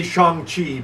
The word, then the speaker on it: Shang-Chi: So with the Eternals, I'm not gonna see Shang-Chi because that's how you pronounce it, by the way. All right. Not Shang, Shang-Chi. Chong.